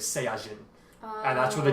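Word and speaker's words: サイヤ人: So in Japanese, the pronunciation of Saiyan is Saiyajin.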